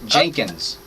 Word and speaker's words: Jenkins: I'll help you with the pronunciation. Jenkins. Oh, Jenkins. Okay. Jenkins. There Jenkins. you go. Okay. So people a lot of times say Jerkins.